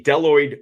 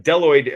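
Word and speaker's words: bdelloid: This is a deloid rotifer. Um, uh, deloid actually begins with the letter B, but the B is silent.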